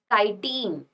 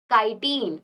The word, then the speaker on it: chitin: The name is chitin. How will you pronounce? Chitin, or some can say chitin.